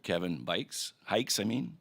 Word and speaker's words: Hikes: Our next witness is Mr. Kevin Hikes, rhymes with bikes, right?